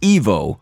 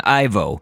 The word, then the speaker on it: Ivo: Eggman in Japan from the very beginning some drafts of the unpublished Sonic Bible specified that it should be pronounced Evo Robotnik rather than Ivo for the name he